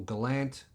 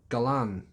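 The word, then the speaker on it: Galant: to the gallant or gallant no galan no there's no t on the end it's not a gallant it's a galan i didn't know that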